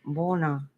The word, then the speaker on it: Buona: Boa, Buona is pronounced Bona.